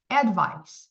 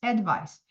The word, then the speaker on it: advice: cuidado com a pronúncia este daqui termina com um som de s Advice Advice e esse daqui colocar